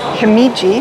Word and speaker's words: Himeji: I have made it to Himeji. That's how you pronounce it.